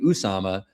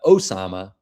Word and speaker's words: Osama: I've been saying Usama, but Osama apparently is how you say it.